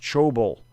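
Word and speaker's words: Thybulle: Also, it's pronounced Chobel.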